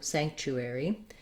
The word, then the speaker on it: sanctuary: in one quick movement so the beginning these t u it sounds just like the word chu chu make sure that you're